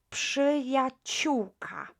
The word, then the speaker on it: przyjaciółka: So now, przyjaciółka. Przyjaciółka. You know already that PRZ is pronounced psz, psz, right? Not pr, but psz, right?